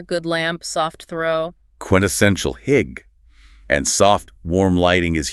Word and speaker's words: hygge: Pronounced hygge.